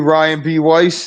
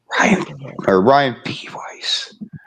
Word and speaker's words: Ryan B. Weiss: All right, over to you, Ryan B. Weiss. The B is silent. Ryan B. Weiss.